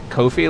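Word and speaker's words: Ko-fi: Uh, speaking of Hey, you see that Kofi link? Coffee? Jesus, I'll never remember how to pronounce it. It's coffee cuz it says buy me a coffee, right?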